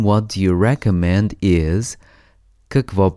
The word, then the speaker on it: какво: In Bulgarian, what do you recommend is Какво препоръчвате? Какво препоръчвате? Let's break it down by syllable.